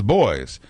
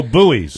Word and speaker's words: buoy: way it's a buoy it's a buoy and that's what you attach a lobster trap to it's a goddamn buoy not a boy not a boy hey